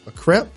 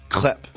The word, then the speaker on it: crepe: A crepe? Yes. See, sometimes I've been guilty of saying crepe. Or crepe? Crepe. I'll say crepe. Crepe or crepe. I think it's crepe.